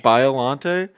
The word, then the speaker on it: Biolante: Biolante. Biolante. Is it Biolante?